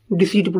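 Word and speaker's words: deceit: जो डिसीट है, जो जो ई आई आता है, सी की साउंड आता है यहाँ। अगर ई की साउंड आती तो क्या आता, आई ई आता।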